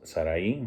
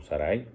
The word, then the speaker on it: Sarai: de él, de Abraham, que es Sarai, o Sarai, algunos dicen que no se pronuncia con acento, y toman también a Lot, cuyo papá era Harán, también hijo de Taré, pero que murió.